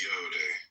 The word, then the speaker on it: Yod: The 10 ineffable Sephiroth, Yod pronounced Yode, transcribed as I or Y, the number 10, meaning creative hand, the intelligence of will.